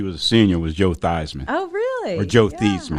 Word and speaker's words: Theismann: Notre Dame had a chance to win the Heisman Trophy, so he changed his name from Theismann to Theismann to rhyme with Heisman.